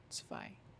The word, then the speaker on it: zwei: The W's are V's, so zv. And then E and I make an I sound. Zwei.